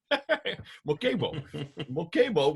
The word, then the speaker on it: Muhammad: Mokemo would be the way they pronounce Muhammad.